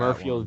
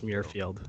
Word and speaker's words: Muirfield: Well, we were Murfield promised tickets to Village. the Masters. Just saying. Yeah, you are right about that. Murfield Village.